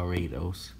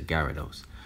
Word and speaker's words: Gyarados: go for another guy rados a gyarados excuse me that's how you pronounce a gyarados i was gonna go